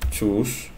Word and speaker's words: chose: Hoy aprendimos choose, cuyo pasado es chu, bueno, se escribe chose, vamos a pronunciar otra vez ese para nunca olvidarlo, que es chus.